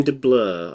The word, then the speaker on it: DeBlois: Dim de Blur, I think. DeBlois, DeBlois. It's like Um, blue but spelt weirdly. So I just Bleu. yeah, Dim de Blue.